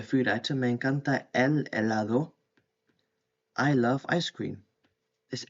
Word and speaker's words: helado: Me encanta el helado. And the H is silent as well when you pronounce the word.